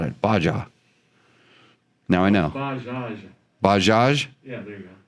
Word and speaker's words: Bajaj: Baja.